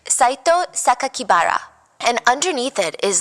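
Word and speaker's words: 酒鬼薔薇: The press read the kanji, so like the Japanese characters for Saito Sakakibara, and instead of pronouncing the way that he intended, the killer intended, because the kanji could mean other words, they stated to the public that the killer's name was Saito Onibara, which would be a more common surname.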